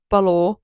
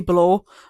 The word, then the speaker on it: Balor: So you might be But I'm saying how I say it because I am an English person is bal. So I say balor but it I think it actually could be ba not Baylor but a lot of Americans say Baylor but I think it's probably Balor not Bor or Balor Balor cuz I say balor thim balor but I don't I don't know if that's just my brain making me say